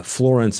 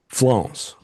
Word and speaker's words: Florence: I also learned that uh Florence is actually one syllable, Keith. Okay. How's that work? Florence.